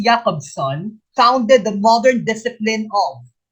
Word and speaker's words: Roman Jakobson: to question number six roman jacob's son is pronounced jacob's son founded the modern discipline